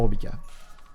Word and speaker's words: Robika: Est-ce que tu es prêt, mon Robika? Ouais. Est-ce que je prononce bien ton pseudo devant? Oui, tout à fait.